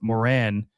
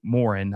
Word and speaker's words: Morin: Team has a lot of issues and and I'm really upset that they let go of Moren or Morin, excuse me, Morin. I always get his name wrong, but they let him go.